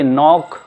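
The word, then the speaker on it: knock: ये नील हुआ, ये नो हुआ, ये नोट हुआ, ये नॉक, ये निट, ये नाइट और ये नोब। ये आप N से पहले K आता है तो K साइलेंट हो जाता है, ये बोला नहीं जाता है।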